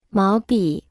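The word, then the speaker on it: 毛笔: 毛、毛、毛笔、毛笔、毛笔、毛笔、毛。 Se pronuncia con el segundo tono.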